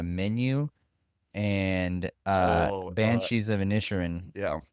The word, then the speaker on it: Inisherin: What really got me was whenever you told me You had watched The Menu and Oh, Banshees of Inisherin, yeah. or Inisherin, I think is how they pronounce it.